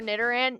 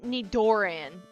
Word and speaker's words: Nidoran: I used to say for Nitaran Nidoran.